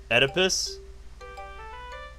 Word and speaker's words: Oedipus: name very well Oedipus why even have the o silent letters so what Freudian theory